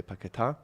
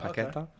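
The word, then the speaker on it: Paquetá: And it's the accent on the A, so you say Paqueta, not Paqueta, as some people have been mispronouncing on the West Ham fan channel.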